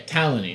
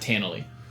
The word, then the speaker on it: Talon: you heard tany taly Talon yeah Talon not tanell that's Andrew having a